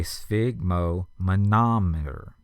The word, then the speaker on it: sphygmomanometer: and that is a sphygmomanometer. S-P-H-Y-G-M-O-M-A-N-O-M-E-T-E-R. Sphygmomanometer. And it helps if you parse it into pieces to spell it. The sphig is S-P-H-Y-G, mo, M-O, ma, M-A, nom, N-O-M, and then E-T-E-R.